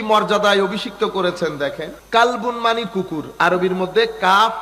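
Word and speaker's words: قلب: আল্লাহ এই কুকুরকে কি মর্যাদায় অভিষিক্ত করেছেন দেখেন কালবুন মানে কুকুর আরবির মধ্যে কাফ লাম বা কাল আরেকটা হচ্ছে কলব এটা হচ্ছে কফ দিয়ে কলব তো আপনি কলবুনকে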